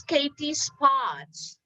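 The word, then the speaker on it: Katie Spotz: she's really very interesting and her name is katie spots did i pronounce it right katie that's perfect thank you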